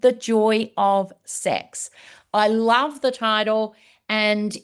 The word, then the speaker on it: CEHX: with the fact that is pronounced as sex because you have CX uh for customer experience you add the E and there you go you sex.